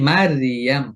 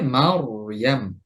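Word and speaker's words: مريم: আমি যদি বলি মারিয়াম পাতলা করে, এটা ভুল উচ্চারণ হবে, বরং হবে মারিয়াম, মারিয়াম, মারিয়াম।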